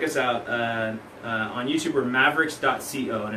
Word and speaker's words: Maveriqs: on YouTube check us out on YouTube for Mavericks ego and it's spelled ma vie er IQs but at the